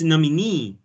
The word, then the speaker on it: nominee: attendee and nominee you you failed to pronounce them stressing the last syllable it's nominee right yes yes exactly it's